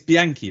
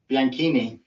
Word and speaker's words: Bianchini: so I I remember at least you didn't pronounce my surname all right well it's Bianchi right bianchini bianchini but you know see that's what I